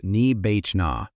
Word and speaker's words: nibbāna: The Pali word for what happens when the fuel stops is nibbāna — pronounced ni-BAH-na.